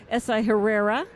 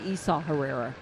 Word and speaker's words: Esau Herrera: And it's actually Esau Herrera, you know. Let's pronounce this man deserves his name to be pronounced correctly.